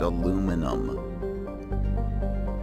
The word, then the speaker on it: aluminum: Britain Alemany Alma but here in the United States we pronounce it aluminum pronounce it however you